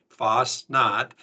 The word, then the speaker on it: Fastnacht: of all uh let's just hit that your pronunciation is very good Foss not and uh you can just Kyler you can